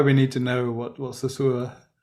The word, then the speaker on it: Saussure: Saussure.